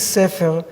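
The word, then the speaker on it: ספר: We have the word in Hebrew for a book is sefer. Samech Peiresh, sefer, three letters that you can pronounce like siper or supar or sipur or safar, which is another thing.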